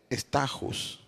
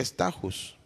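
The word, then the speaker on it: στάχυς: La segunda etapa es la etapa de la espiga, que en griego se pronuncia stachus, referencia en Strong 47:19. ¿Qué significa estajus?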